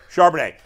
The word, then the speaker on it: Charbonnet: I thought Zach Charbonnet, how do you pronounce his last name? Charbonnet.